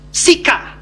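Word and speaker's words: psyche: Psika. Psika itu tulisannya P-S-Y-C-H-E. Tapi dibacanya akhirannya A, intonansinya A, walaupun alfabetnya E. Bacanya psika.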